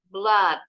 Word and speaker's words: blood: Tapi ada juga yang O-nya 2 bunyinya A. For example, in the word flood, banjir. Also, blood, darah.